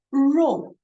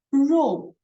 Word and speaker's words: 肉: R here, 日日 it sounds like the E but with your tongue rolling inside of your mouth when you pronounce E, but rolling your tongue. So it will sound like R, R, R, O, ro, R, O, ro, 羊肉，羊肉。